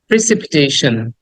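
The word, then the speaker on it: precipitation: উচ্চারণ করা উচিত এরকম প্রেসিপিটেশন প্রেসিপিটেশন প্রেসিপিটেশন সন সন না এটাকে অনেকে আমরা সন উচ্চারণ করি টি আই ওন যেখানেই পাবা সেখানে সান নট সন সান এখানে স দেন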